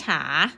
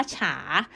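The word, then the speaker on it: 茶: อาชา เสียง 2 ชา ฉา ตัว นี้ อ่าน ว่า ฉา ใน ภาษา ไทย คือ ชา ค่ะ อื เรา อย่า ไป งง ตาม ภาษา ไทย นะ ถ้า คน จีน จะ ต้อง เรียก ฉา อ่ะ ที นี้ อีก คำ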